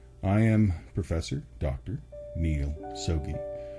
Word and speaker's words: Soggie: am Professor Dr Neil sobey Easy's way to remember how to pronounce my name is to think of a stogie cigar or you can call